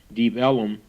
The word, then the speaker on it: Deep Ellum: The area was called Deep Ellum, or as early residents pronounced it, Deep Ellum, because of the proximity of the railroad.